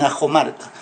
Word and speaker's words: Accomarca: de una escuela Popular a comarca en a jomarca en quechua la doc se pronuncia como J a jomarca entonces este Bueno entonces